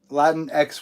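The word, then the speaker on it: Latinx: totally for that um latin x would be the correct way to say that uh oh dominique thorne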